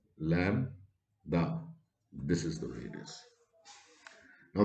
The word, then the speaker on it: lambda: me write it clearly this is pronounced as lam da this is the radius